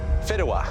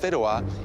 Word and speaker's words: Fideuà: Fideuà.